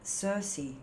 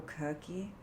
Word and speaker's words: Circe: Next card out, Circe, the Three of Fire, or Kirky, depending on how you pronounce her name.